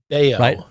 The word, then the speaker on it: Bello: this just a is this a blip or bellow? Healthy, but definitely off. Beo, it's pronounced Bellow. Why did I say Bellow? Brian Bellow in my head. I don't know why. Brian Beao.